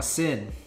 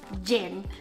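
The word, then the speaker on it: Cin: one is chin or sin oh no that one is actually pronounced i looked it up it's jin jin because it says it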